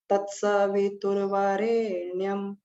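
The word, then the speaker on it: तत्सवितुर्वरेण्यम्: और उनको बोला कैसे जाएगा? जब भी हम गायत्री मंत्र का उच्चारण करते हैं तत्सवितुर्वरेण्यम। तो यहाँ पर एक थोड़ा सा गैप देते हैं, यानी इसका 8 का एक चरण हो गया। तत् स वि तु व रे नी यम।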